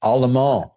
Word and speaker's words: Allemand: Allman. Allemand. Oh, interesting. It's French.